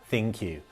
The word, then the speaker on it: ThinQ: and we can confirm it is pronounced thank you like thank you but thank you thin queue it picks up where